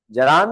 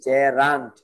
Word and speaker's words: gerund: অনায়াসে এটা কি হওয়া দরকার, জেরান্ট। জিরান। জিরান না, উচ্চারণটা কি জেরান্ট, বলো জে রান, এই উচ্চারণ শুদ্ধ, জেরান্ট।